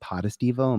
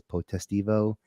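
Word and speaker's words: Potestivo: appreciate when people because I say my name podestivo my family says protesting Evo I really appreciate hearing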